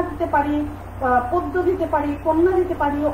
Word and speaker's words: পদ্য: যকারযুক্ত ব্যঞ্জন বর্ণ থাকলে, শব্দের শুরুতে যদি অ থাকে এবং তারপরে যদি যকারযুক্ত ব্যঞ্জন বর্ণ থাকে, তাহলে সেই অ এর উচ্চারণ অ এর মতো না হয়ে কিসের মতো হয়ে যাবে?